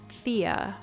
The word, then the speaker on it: Thea: So it's spelled like Thea, but it's pronounced Thea. That's how it's pronounced because it is a Dutch name.